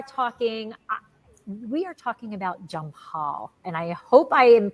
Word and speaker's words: Jampal: and we are talking we are talking about jump Hall and I hope I am pronouncing that correctly junior did I correct that